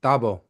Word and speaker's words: Thabo: T H A B O. Tabo. Like I like the pron pronunciation right there. Correct.